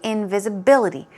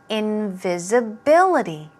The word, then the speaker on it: invisibility: often sleeveless all right let's move on to invisibility this board is a bit tricky to pronounce so invisibility two more times visibility one more time invisibility stress goes right there a synonym is invisible